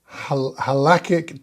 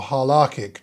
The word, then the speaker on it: halachic: introduce the reader to the halachic texts or hallachic texts pronounced different ways and to show how